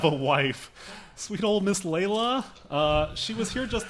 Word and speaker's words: Layla: you're pronouncing it we're not yet sorry its Layla spell that I have to get something embroidered earlier